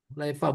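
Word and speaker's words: حليفة: Zal Hulaifah bidommil ha musoghoron. Hulaifah bacanya.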